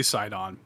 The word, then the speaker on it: Sidon: So CD Walter 226 says, I don't know how you pronounce it. Is it Sidon? I say Sidon.